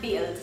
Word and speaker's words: build: Build, nem úgy mondod, hogy build, hanem build, tehát egy I hangzás van az U helyett.